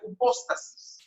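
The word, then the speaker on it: ὑπόστασις: Si de igual manera descomponemos la certeza en su palabra o raíz griega, nos daremos cuenta que desciende de una palabra que se pronuncia hipóstasis.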